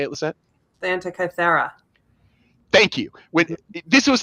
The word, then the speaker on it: Antikythera: The Antikythera.